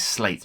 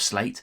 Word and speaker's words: Sleat: I'm given to believe that the pronunciation is slate, not slate as it's phonetically spelled. Sound of slate.